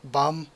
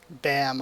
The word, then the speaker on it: Bam: bomb which is like a really long a and bum so just sort of like bum rather than bam obviously so that's why i prefer the two ways i just think it explains the pronunciation a lot better but either way it